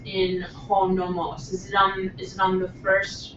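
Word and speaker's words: νόμος: Professor Morel, where's the accent in ho nomos? Is it on the first omicron or second? Okay, that's the difference. Ho nomos, okay, accent on the first syllable is law or convention.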